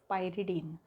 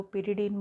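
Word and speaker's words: pyridine: Next देखो, reaction carried out in presence of पायरिडीन। पायरिडीन बोलो, पिरिडीन बोलो, what ever your pronunciation is, बट the thing is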